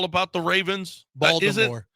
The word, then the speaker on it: Baltimore: Baltimore. It's called Baltimore. It's Baltimore. Baltimore. In Baltimore, the Baltimore? T is silent.